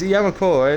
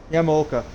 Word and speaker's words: Yamaoka: Oh god, it's Yamakoa, right? Yamaoka, thank you. I knew it was Yamaoka, I even said it earlier in the practice, but I said it wrong. Yamaoka, I know how to say it, it's just I forgot.